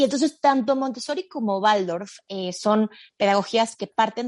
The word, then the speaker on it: Waldorf: escuchan es n más como es la W entonces la pronunciación alemán sería Waldorf en mexicanismo sería Waldorf entonces que es lo